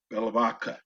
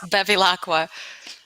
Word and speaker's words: Bevilacqua: how many times she tells me how to pronounce her name. Let me introduce you to our expert attorney, Natalia Bevilacqua. That was really close. Bevilacqua. Bevilacqua.